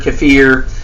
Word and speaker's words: kefir: So this would be like you drink a um kefir, kafir, how people like to pronounce it.